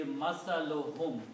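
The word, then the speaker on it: مثلهم: When we combine these two, it will be masaluhum. We don't pronounce to the mas, one only.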